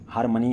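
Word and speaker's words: harmony: tolerance and religious हार्मोनी हार्मोनी है ओ ओ की आवा नहीं दे रहा थोड़ी सी ए की आवा दे रहा है हार्मोनी प्रोनाउंसिएशन पर बहुत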